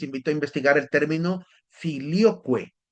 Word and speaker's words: filioque: Si quieren averiguar un poco más de esto, les invito a investigar el término filioque. Se escribe filio, Q-U-E, es decir, Q-U-E, filioque, que tiene que ver